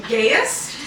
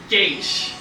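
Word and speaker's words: Geas: Gaius? Yeah, like Gaius, Wow. Deus. However, Isn't it G-E-A-S? What did you call it? Gaius. Gas. Gaius! yeah, like Gaius. I've been saying Gaius, but apparently it's pronounced Gaish.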